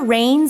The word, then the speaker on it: reins: Here, reins is R-E-I-N-S. It's pronounced the same way you might say the liquid that falls out of the sky.